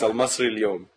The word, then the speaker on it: Al-Masry Al-Youm: whose name I'm not going to try to pronounce. You can. Yes, it's Al-Masry Al-Youm.